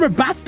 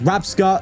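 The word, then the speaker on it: Rabsca: V what they vacuum rabasa away what okay it's rabska everyone's going to go crazy at the comments me pronouncing it wrong I don't care rabska bro you're just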